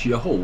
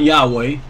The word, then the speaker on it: Jehovah: you speak Hebrew it's Jehovah way it's not Yahweh there's three syllables they've already determined that so it's Yahweh but